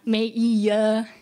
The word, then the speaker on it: Maiya: Not Maiya, not Maiya, just Maiya. Don't let the I fool you.